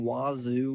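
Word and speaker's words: Wazzu: So, I guess the name Wazu, which is their Cougs's nickname, uh, comes from WSU, Washington State University. Guess if you say it like that, it sounds like Wazu or that's what they want it to say.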